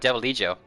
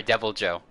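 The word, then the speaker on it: Deviljho: You're talking about Devil Eye Joe or sorry, Devil Joe.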